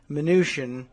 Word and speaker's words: Mnuchin: In other Steve Mnuchin news, and I understand that the pronunciation is Mnuchin, so I've nicknamed him Dim.